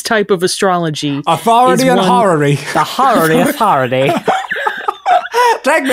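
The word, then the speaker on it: horary: we made this episode how do you spell it h o r a r y horrory hary time yeah so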